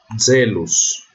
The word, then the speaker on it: zelos: E o Z tem som de DZ, como também é semelhante ao... Eu não coloquei aqui, mas ele também é assim na pronúncia reconstituída. Então eu leio zelos.